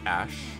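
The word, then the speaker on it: Æ: just x and then the a e is pronounced like ash then a12 a12 is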